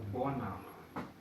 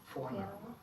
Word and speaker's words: Vorname: La V es como la F. Muy fácil la regla. No digan Biel, Verbot o Vorname. Es viel, Verbot, Vorname.